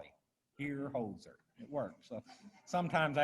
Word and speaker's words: Hierholzer: people the easiest way to remember how to pronounce it is if you had a dog named hozer just call it here holzer it works so sometimes i have to try